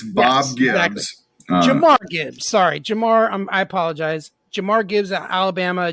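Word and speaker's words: Jahmyr: Elite quickness and speed and trickiness that is Jared Gibbs out of Alabama excuse me I said his name wrong I'm hyping this guy up and I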